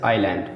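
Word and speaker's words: island: जैसे आइलैंड, देखिए यस के बाद यल आ गया ना, आइलैंड मतलब द्वीप होता है।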